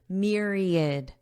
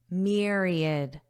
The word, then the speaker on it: myriad: useful in Myriad ways let's review Myriad and notice the pronunciation there is no a sound it's id id Myriad Myriad this means large in